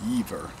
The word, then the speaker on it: Jever: I would say Jever, you know, I speak English, but I think they pronounce it Jever.